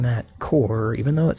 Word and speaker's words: Corps: And I'm pronouncing that core, even though it says corpse, but there's no silent E, so you don't pronounce the P because there's no silent E, as my English teacher used to say.